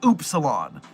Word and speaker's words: upsilon: I discovered that the word upsilon is actually pronounced oopsilon, which is stupid and terrible.